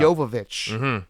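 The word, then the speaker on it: Jovovich: yovich right in there milia yovich is that how it's pronounced yovich yeah yovich okay very Eastern European I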